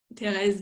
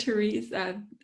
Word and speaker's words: Thérèse: I want to touch on Thérèse de Lisieux, is how I would say her name. How did you say it? Therese? Therese? Teresa of Avila. Yeah, Yeah. or of Lisieux. Oh, Thérèse. Thérèse of Lisieux.